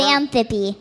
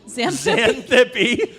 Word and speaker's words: Xanthippe: Xanthippe. Xanthippe. But it's spelled with an X.